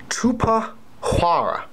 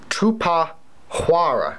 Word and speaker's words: Tupuxuara: you are having a very hard time to pronounce so I will say it for you it is called Koopa Hara say it again - PAH Quorra in fact I've even written it down alright